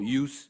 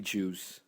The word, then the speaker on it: Juice: Say hello to the people, Use. What up, bitch? It's actually Juice. I just say Use. He says used to be racist. yes, basically. Like how Hispanics for J's they pronounce it with Y's.